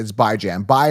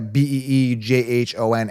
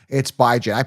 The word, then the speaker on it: Bijan: If you're new to the channel, yes, that's how you pronounce it. It's Bijan. Bi is in bi-weekly, Jan as in Rand, not Bijan. Like I don't see a Beejhon anywhere. It's Bijan. I pronounce things, by the way, I do things on my terms.